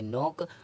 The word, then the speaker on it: knock: के silent, N से पहले आया के साइलेंट होता है। जैसे KNOCK, तो इसको पढ़ेंगे नोक।